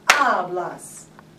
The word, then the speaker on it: hablas: How many syllables? Two. It ends in a vowel and a S? It ends in an S, so what's the second to the last vowel or syllable? Ab. So when I say the word, I say hablas.